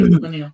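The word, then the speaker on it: Leinil: I thought it was Laniel, right? Laniel. Yeah, sorry, you're right. No, you're right. You're right. Laniel. Yeah. So Jim Lee, Wendy Penny, Arthur Adams, Kevin Eastman, Mike Mignola, Frank Miller, Laniel, Dave Gibbons, long list.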